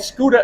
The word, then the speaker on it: Scooter: It's called Scooter Adventures.